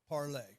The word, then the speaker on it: Parler: It's spelled parlor. They wanted a catchy name. This is the French word for to Parlay. speak. Yeah, well, and it's Parler. called Parlay. Je vous parle. Yeah, Parler. French is Sydney's Yep.